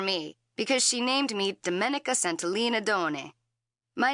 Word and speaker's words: Domenica: My name is pronounced in the Italian way, Domenica.